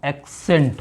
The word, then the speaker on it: accent: है, तो यहाँ पर सी के बाद ई है तो यहाँ पर सा रीडिंग करेंगे, तो क्या हो जाएगा, इसका प्रोनाउंस एक्सेंट हो जाएगा।